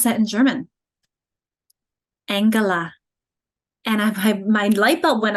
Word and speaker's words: Angela: So we're pronouncing it g before an E like they do in German. And so it's not Angela, it's Angela, like in girl and get.